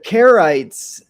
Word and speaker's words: Charites: The Charites. Uh yeah, so c h in Greek is the um cur sound, cuh.